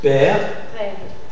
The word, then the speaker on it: père: Père.